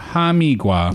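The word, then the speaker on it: 哈密瓜: Hamigiua. A hamigua.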